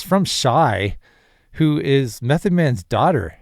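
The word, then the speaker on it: Chey: It's pronounced Shai, but it's spelled C H E Y. So, it's pronounced Shai.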